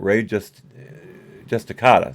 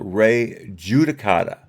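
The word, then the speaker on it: res judicata: Whether you want to call it Ray Justicata, sorry, I pronounced that wrong. No. One more time. Whether you want to call it Ray Judicata or collateral estoppel, it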